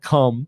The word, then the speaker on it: KOME: And of course, they pronounced it cum.